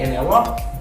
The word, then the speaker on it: interrupt: When I say interrupt, this T is silent. Interrupt you, like internet.